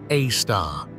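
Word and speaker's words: A*: Center known as Sagittarius A asterisk pronounced AAR however the accretion disc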